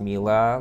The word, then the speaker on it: Miele: for mila kitchens they are german so it's pronounced mila like sheila not melee which is italian for honey the brief was